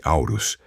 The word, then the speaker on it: Orus: Os deuses elementais são imponentes e terríveis, especialmente orus. Pronuncia-se aurus, que em seu antebraço leva vários braceletes ou anéis de ouro maciço.